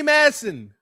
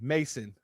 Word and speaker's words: Mason: Madam CJ Walker, yes indeed, Harriet Tutman, Biddy Matson, excuse me, Mason. Matson is my cousin's last name, but that's the way it's pronounced.